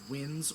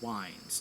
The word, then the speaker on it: winds: And one of the things that they refer to is winds or wines depending on how you want to pronounce it. Um it's w i n des. So you can pronounce it either way.